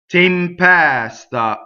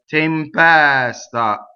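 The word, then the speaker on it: tempesta: Tempɛsta. How many times have you sung open E there? Tempɛsta. Okay, so open E in the middle and delayed S, right? So you're going to separate tempɛsta when you sing.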